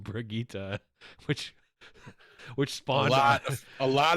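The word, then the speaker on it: Brigitte: the dawn of the outlaws are coming the mispronouncing of bruh Getti for a whole week and let's let's add that we got mark Vaughn la mole coming into our discord and being like it's actually pronounced brigita which which spot a lot of people were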